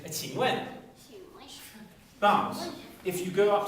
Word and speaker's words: 请问: So if you don't understand me, you say 请问. The Q is pronounced like a train. 请问.